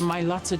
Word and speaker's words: Mailata: sibling, knowing that they've changed the Mailata generation forever? That's the correct way to say it, guys.